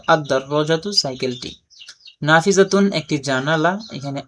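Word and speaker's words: الدراجة: তো 13টি হরফের মধ্য থেকে একটা যদি হয় সেক্ষেত্রে আলিফ লাম যুক্ত হলে লাম উচ্চারণ হবে না, আর পরবর্তী হরফটা তাসদিদ যুক্ত রূপে উচ্চারিত হবে। তো আদ-দাররাজাতু সাইকেলটি।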